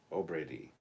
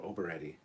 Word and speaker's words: O'Brady: Oberedi is pronounced like the Brady Bunch. O'Brady.